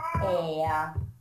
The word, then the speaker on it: heir: In this case, you must not pronounce the H. Okay, for example, an hour. An hour. An honest man. An honest man. Mm-hmm. An honor. An honor. An heir.